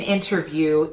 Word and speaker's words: interview: to this word interview when you see an NT between vowels I recommend that you pop the T so I want you